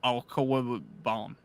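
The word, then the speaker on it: Okwuegbunam: It is Albert Alcoabaum. That's his name. That's how you pronounce it, actually.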